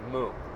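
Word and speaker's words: 無: And it's a meaning, it's pronounced mu, which means like nothingness or emptiness.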